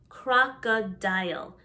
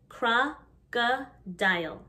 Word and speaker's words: crocodile: like but it is crocodile crocodile the o sounds like an a crocodile leopard leopard not leopard